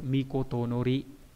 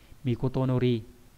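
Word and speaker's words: 詔: Chữ cuối cùng là chữ chiếu trong từ chiếu chỉ, cái này hơi khó nhớ, mikotonori, âm cương đọc rất là dài, mikotonori nghĩa là chiếu của nhà vua ấy.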